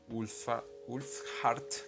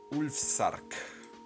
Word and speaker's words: Ulfsark: Lo primero que hice fue crear una casa con mi Ulfheart, creo que es que se pronuncia. Ulfsark.